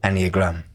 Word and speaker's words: Enneagram: Well, the Enneagram is spelled Ennea, and Ennea means 9 in Greek. Enneagram. Yeah, and gram just means picture or diagram. Enneagram. You literally pronounce it the way it looks. It's one of those words that are rare that way.